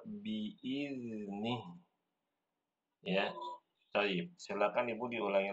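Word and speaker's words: بِإِذْنِ: Nah, di huruf zalnya, ya, Ibu tadi bacanya biizni dengan huruf zai. Ini keliru. Yang benar biizni, ya.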